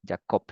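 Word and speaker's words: יעקב: y la aquí cop y termina en B ya cop sí su plantador Y esa es el significado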